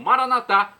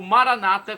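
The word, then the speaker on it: maranatha: do aramaico Eu Clamo maranat como dizemos nós católicos ou Maranata como dizem nossos irmãos separados não importa a pronúncia o significado é o mesmo vinde Senhor Jesus um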